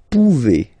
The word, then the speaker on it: pouvez: Then vous pouvez. Okay? Classic ending as well for the vous form. A Z like that. Okay? Remember you pronounce it E.